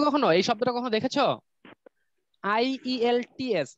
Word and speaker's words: IELTS: IELTS, এটার উচ্চারণটা হলো আইএলস।